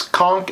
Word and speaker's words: conch: And yes, conch is the proper Floridian pronunciation of the word spelled C-O-N-C-H.